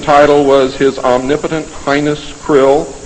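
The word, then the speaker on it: Krll: His name and title was his omnipotent highness krill, pronounced krill, spelled K R L L or C R L.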